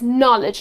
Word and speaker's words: knowledge: so knowledge it's again the K is silent and the correct pronunciation is knowledge like with the N and knot with a